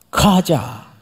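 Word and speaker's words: חזה: 그런데 원래 히브리 정통 발음대로 하려면 그 앞에다가 들릴 듯 말 듯 가하자 이래 이게 정통 발음이에요. 가하자. 근데 이 크자를 이렇게 세게 안 합니다. 아주 연하게 가하자. 그 한 듯 안 한 듯.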